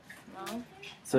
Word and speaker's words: months: Month. So I guess you can kind of get by saying month, pronouncing the th, and then months, almost not saying the th, but it's in there.